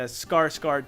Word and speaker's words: Skarsgård: when talking about actors we cannot forget the skarsgård clan which is is not pronounced skarsgård of course hence this video first